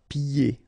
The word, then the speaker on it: pieds: And then when you get this combination here, it's ye, pieds. Okay, so you don't hear the D.